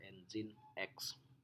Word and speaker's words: Nginx: Nah, alternatif lain bisa juga kita gunakan Nginx, seperti Nginx, dibacanya Nginx.